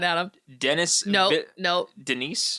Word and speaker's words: Denis: of Dennis no no Denise be French Denise is silent yeah I think it's Danny an American Thriller film